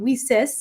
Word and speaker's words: WiCyS: our acronym Wiis and we spell that WIS pronouncing it Weis like we sister because we're a global